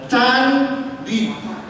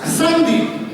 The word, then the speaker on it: candi: bangunan Soro Selo itu, kita membacanya candi loh, candi. C-nya ini sebetulnya harusnya ada coreknya. Ya, karena tahun Saka itu dibacanya tahun Saka. Maka kalau ada tulisan candi dengan coret harusnya dibacanya gimana? Sandi.